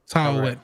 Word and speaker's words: Taweret: It's like Tawets or something. Taweta. I don't know. Listen. I'm black. I'm not. Taweret. There we go. Something like that. Hey, I'm gonna look up the pronunciation so I can say it better.